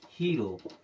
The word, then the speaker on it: HERO: हीरो।